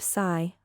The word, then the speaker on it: Si: sh, with a deep sigh, which is associated with the liver. He, pronounced like her, with a yawn, which is associated with the heart. Si, pronounced like sir, with a slow exhale, which is associated with the lungs.